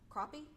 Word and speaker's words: crappie: just too many and the name of that fish in the lak is pronounced crappie not crappy give me a sec